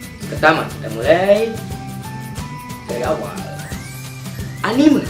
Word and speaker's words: anime: kita mulai dari awal anime dibacanya bukan Anim yang bacanya Anim itu Pergilah yang nonton video ini itu salah besar ya Meme aja lu baca mem apalagi anime lu baca Anim aduh salah pergi-pergi aja harus dibaca anime adalah animasi khas Jepang